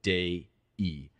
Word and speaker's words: Dei: Vox Dei. It's D. E-I, and you pronounce that not as day, as in have a nice day, but day-e.